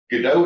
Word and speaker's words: Godot: by Spanish-speaking people, so maybe the original pronunciation should have been Godot. Most people go with the French pronunciation, but in America, you'll hear Godot a lot.